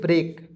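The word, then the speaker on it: break: के दोस्तों इसे पढ़ेंगे ब्रेक बी आर ई ए के क्या पढ़ेंगे दोस्तों बी आर से होता है दोस्तों ब्र ई से ए की मात्रा के से होता है क हो जाएगा दोस्तों ब्रेक और ब्रेक मींस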